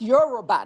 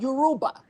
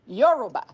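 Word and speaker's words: Yoruba: You And it's actually And it's pronounced Euroba, not Yuruba. Euroba.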